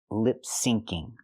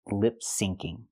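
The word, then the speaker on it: lip-syncing: she means to say lipsyncing there's no such thing as lip singing the phrase is lip sinking with the CC sound syn it's short for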